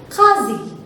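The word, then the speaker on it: क़ाज़ी: वो कैसे करेंगे देखो, जब हम बोलते हैं काजी, काजी, ठीक है, तो इसमें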